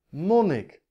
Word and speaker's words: monnik: ik al erg zijn zeg ik mon ik als zeg ik wil ik nee ik zeg monnik kortom de klemtoon zit niet op de laatste lettergreep ik krijg dus ook geen